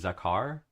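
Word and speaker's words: זכר: original Hebrew right um the word is pronounced zakar which is uh many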